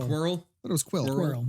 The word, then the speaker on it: Quirrell: Quirrell. Quirrell. But it was Quill. Squirrel, yeah. Quirrell. Quirrell. Oh, like a squirrel.